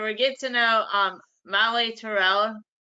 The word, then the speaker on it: Tyrrell: It's more of an A sound, a short A sound, so it's Tyrrell. So you don't even pronounce it as a Y. Tyrrell.